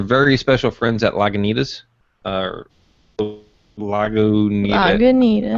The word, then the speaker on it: Lagunitas: Lagunitas. I say Lagunitas because that's what it's spelt like, but other people have turned.